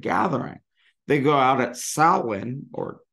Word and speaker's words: Samhain: They go out at Samhain or Samhain. I prefer to say Samhain because that's the way you pronounce the band from the early 80s that I quite like.